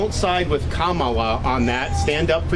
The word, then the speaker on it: Kamala: don't side with uh Kamala if that's how do you pronounce her name camela right Kamala Kamala that's how you pronounce it now it's coming